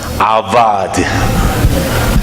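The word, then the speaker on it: עבד: In Hebrew word, Dans le livre d'Hébreux, walk is pronounced as avad.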